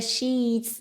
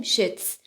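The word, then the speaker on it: sheets: و شیتس ملافه‌ها رو دقت کنید که این کلمه رو میگیم شیتس ایش کشیده هستش اینو کوتاه نمیگیم نمیگیم شس چون اگر این کلمه را با ای کوتاه تلفظ کنیم کلاً معنیش عوض میشه پس توی تلفظ کلمات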